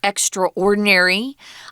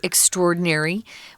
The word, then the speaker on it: extraordinary: Now, this word extraordinary, I sometimes hear people pronounce it extraordinary. It isn't incorrect, but typically we say extraordinary. we say those two words together.